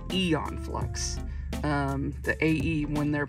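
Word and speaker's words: Æon Flux: how this is pronounced you would think it's Aon flux but it's Eon flux um the AE when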